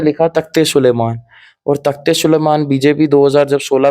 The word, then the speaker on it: तख्ते सुलेमान: और तख्ते सुलेमान बीजेपी 2000 जब 16 में मंत्री थे उन्होंने भी कश्मीर इसको तख्ते सुलेमान की तरह प्रोनाउंस किया।